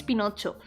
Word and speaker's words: Pinocho: But here in Spanish it's Pinocho. Probably because it's just pronounced as it is written more or less. But yeah, here in Spain, we call him Pinocho.